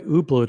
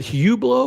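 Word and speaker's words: Hublot: Is it Hublau or Ublo? Like I always thought that you didn't pronounce the H. Like it's kind of like a French sounding name. So it's like it's Ublau.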